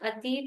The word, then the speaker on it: अति: ये भ्रमति अति चिरम, भ्रमति इति नहीं है, अभी किसी किसी के प्रोनाउंसिएशन में इति जैसा आ रहा था।